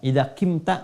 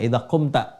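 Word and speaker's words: إذا قمت: Ya, kalau i terlalu berat, idza qimta nggak enak juga diucapkannya. Orang Arab pun nggak enak feelingnya, ya. Makanya menggunakan dhammah. Idza qumta.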